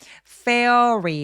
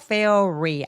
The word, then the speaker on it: fairy: fa리 fairy fa리 아니고요. fairy r로 시작하는 음절 소리라서 입술 내밀고 re기면서 소리 내 주세요.